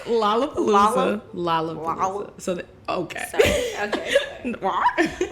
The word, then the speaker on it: Lollapalooza: not from here, so that's why she said Lola. How do you say it? Lollapalooza. I thought it was Lollapalooza. Oh. Is it Lola? Oh. What? It's Lollapalooza.